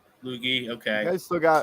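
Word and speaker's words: Luetge: All right, so you got Loizaga, Trevino, Tyon, Clark Schmidt, Herman, Ludic, whatever you say his name, Lucas Ludic. Lucas Lukey. Lukey, okay.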